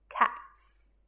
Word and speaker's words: cats: Cats has a soft S, cats.